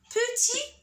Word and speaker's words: petit: La même chose pour le mot petit dans la deuxième phrase et le mot violet. Les deux mots se terminent par T. Je la vois, mais je ne la prononce pas.